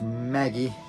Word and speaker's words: Magi: of 20 maggie magi pronounced maggie this is recommended